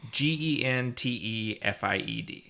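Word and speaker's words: Gentefied: Gentified. Oh, okay. So it's a soft G.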